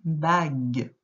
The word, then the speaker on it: bague: Et le dernier mot, une bague. Avec la lettre U, qui est muette, mais qui aide à faire le son G.